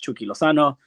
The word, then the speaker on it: Chucky Lozano: are on the right track but it is pronounced chuki loano uh I like how we were talking about